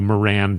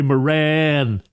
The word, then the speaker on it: Moran: interviewing a representative Jerry it's m o r a an I'm going to pronounce it Jerry probably Moran but it's like you know those cartoons where it's like what what a maroon so it's Jerry Moran Jerry so says good